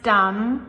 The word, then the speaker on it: dumb: So again, we pronounce dumb with the M, but there is a very sneaky little B at the end of that word, too.